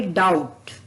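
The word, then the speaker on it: doubt: silent होगा जैसे कि डाउट तो यहां पर भी डी ओ यू बी टी स्पे और टी से पहले भी आया है और बी का उच्चारण हमने इसमें नहीं किया है टी एच यू एम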